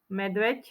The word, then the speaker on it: medveď: na ď spoluhlásku ď spoluhláska ď je párová znelá ale vyslovuje sa ako medveď ť medveď Skús si to povedať je